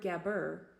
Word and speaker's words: Gabur: The word Gabur was phonetically pronounced as Gab-ur.